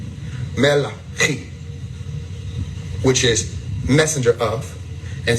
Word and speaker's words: Malachi: When you say it with the Hebraic tone, or the Hebrew tone, or Hebrew tone, you're saying Melachi. Melachi.